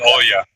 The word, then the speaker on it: Olya: Yeah, it's Oya. That is how you say it. Oya. Adia. O-L-Y-A. O-L-Y. Or Olia. Olia.